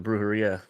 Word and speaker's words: Brujeria: R's or do anything the correct way to say is yeah the J is like H all right there's my